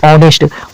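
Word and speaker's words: honest: लेकिन इसको पढ़ा जा रहा है एच को ऑनेस्ट औ से। इसलिए इसमें अ का उच्चारण हो रहा है।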